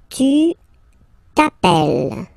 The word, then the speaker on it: t'appelles: Second form, tu t'appelles, okay? Remember, final S not pronounced, tu t'appelle, okay?